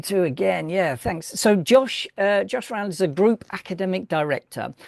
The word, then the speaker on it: Josh Round: It is, the pronunciation is Josh Round, isn't it? That's right, yeah.